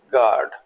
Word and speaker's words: guard: सो अब देखें GUARD, generally इसको आप गलती से गॉड बोलेंगे, लेकिन ऐसा नहीं है, सही प्रोनाउंसिएशन दैट इज गार्ड।